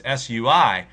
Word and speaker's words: Sui: the Sui Dynasty, and I don't know if that's how it's pronounced, but it's Sui. And so that sounded to me like sweet, and that sounded to me like a surfer.